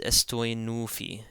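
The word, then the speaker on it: ⲥⲑⲟⲓⲛⲟⲩϥⲓ: And again, the theta is going to be pronounced like a T as opposed to a TH because it comes after a sema. So this is estoi nufi, estoi nufi.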